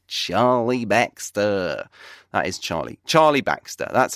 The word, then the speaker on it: Charlie Baxter: me your host Charlie Baxter that is Charlie Charlie Baxter that's how I say my name as I